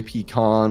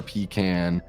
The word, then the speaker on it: pecan: Either way, peon or pecan, but most often I hear the former pronunciation. Okay. So, you hear pean.